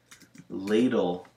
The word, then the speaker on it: ladle: Paddle is a short A, ladle is a long A.